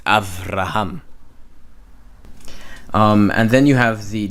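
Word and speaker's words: אברהם: You see, this is why when you see in Strong's and you see a b, you think it's okay, so it's Abraham, and it's Avraham.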